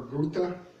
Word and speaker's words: Goethe: Frankfurt School which began at the, you can pronounce it several different ways, Goethe or Goethe University in Frankfurt, Germany.